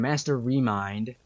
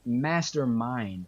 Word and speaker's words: Mastermind: And Master Remind. Is it Mastermind? No, my bad. Mastermind. I was getting his name wrong this entire time.